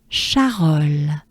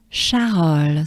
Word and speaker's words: Charolles: And next they will arrive in Charolles. Just like charme sur Rhône, it's a soft sh. And it's Charolles. So we have cha, a, French A, very important too, right? A, exaggerate it.